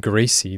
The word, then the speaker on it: greasy: A quick Google search led me to believe that people pronounce the word greasy differently in the South, using a Z sound rather than an S.